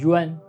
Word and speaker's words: yuan: Let's break it down. It can be broken down into "y" and "uan". "y" and "uan", note that this is not "u". It is "ü" with the two dots removed. As for why we remove its dots, we'll talk about that later. You just need to remember that "y" and "ü". Combined with "an". When we put it into a syllable, it is "yuan".